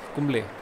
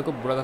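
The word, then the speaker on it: Kumble: अभी अनिल कुंबल कुंबले, मैं बचपन में ना अनिल कुंबले को बुलाता था अनिल कुंबल, तो स्पेलिंग लिखा होता है ना, तो स्पेलिंग के हिसाब से मैं पढ़ रहा था, मुझे समझ नहीं आ रहा था कि कुंबले है कि कुंबल। तो मुझे एक अंकल ने बताया कि अनिल कुंबले है।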